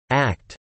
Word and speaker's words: ACT: Acceptance and commitment therapy, or ACT, typically pronounced as the word ACT, is a form of clinical behavior analysis CBA used in psychotherapy.